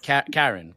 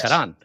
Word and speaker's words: Karan: Everybody probably says, right, Karen. Yeah, They say, yeah, it's more like Yeah. Karan.